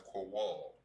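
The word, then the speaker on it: קול: Now for voice, voice in the Hebrew is pronounced as kowal.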